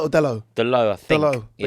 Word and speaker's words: Dalot: Dello. But you don't pronounce the T, do you?